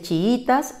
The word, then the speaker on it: chiítas: tres sílabas chiítas y su pronunciación natural está en la penúltima sílaba que es la y ya dice chiítas y no necesita tilde